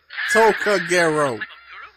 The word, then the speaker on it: Tokagero: Tokagero, remember it! It's four syllables! Tokagero.